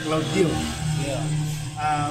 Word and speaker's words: Claude Guillot: Kalau kita menulisnya Claude Guillot, bacanya Claude Guillot.